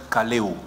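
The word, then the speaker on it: καλέω: Appel vient du grec kaleo. Ça s'écrit K-A-L-E-O, comme en lingala, kaleo.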